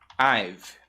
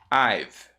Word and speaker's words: I've: Então vai ficar I've. I've, ok? I've been. I've been. Veja a pronúncia. vai ficar I've. Som de V no final.